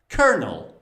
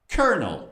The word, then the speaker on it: colonel: You don't read the L. Instead, you say Colonel. Colonel. Repeat after me. Colonel.